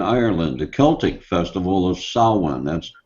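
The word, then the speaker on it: Samhain: or a paragraph here from the encyclopedia britanica says that in ancient Britain and Ireland the Celtic Festival of saan that's spelled Sam h a i n but it's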